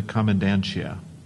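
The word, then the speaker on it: comandancia: Soldiers patrolled the streets to enforce the curfew in the commandantia. Commandantia? Mm-hmm. Commandantia. C-O-M-M-O-N. Actually, any alternate pronunciations?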